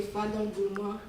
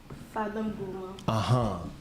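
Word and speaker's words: Fada N'Gourma: Family in the Fadon Gourmand of Burkina Faso with the revenue from ourselves. You see, just the way you pronounced. Say it one more time for the people. Fadon Gourmand.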